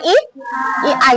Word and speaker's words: AI: Coding dan kecerdasan artificial atau yang sekarang disebut dengan I II. Tulisannya A i bacanya I I.